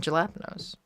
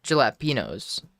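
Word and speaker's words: jalapeños: Because they know that I'm the one person that can pronounce it correctly. Because nobody else wants to admit that that's the correct way to pronounce it. It's tortilla. And jalapenos. Or I guess jalapenos, if you want to be more specific about it.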